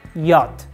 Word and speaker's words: yacht: the next one is as yacht not yacht we don't pronounce CH word like yacht the correct one is yat of course there are